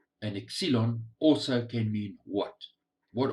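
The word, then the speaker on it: ξύλον: The other word is pronounced exilon.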